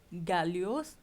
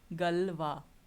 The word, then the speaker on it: Galois: Now, how do you pronounce this? This is not Galios, but it is Galois, right?